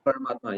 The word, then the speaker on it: Paramatma: Paramatma or super soul? Paramat, super soul, yeah. Paramatma, yeah.